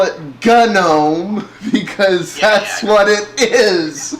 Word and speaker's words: GNOME: presentations the big guys they called it g know and now I'm hearing like some of the top people call it gome I I think it's cuz there's this whole you know you're saying it wrong thing so it's become like the cool people know it's gnome and I was like whatever you know it's gnome gnome but you know what